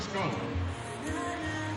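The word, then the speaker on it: Schoop: who are saying it's Shoop. It's not. Why does he keep saying Scope? But it's pronounced Scope, folks. Like the mouthwash.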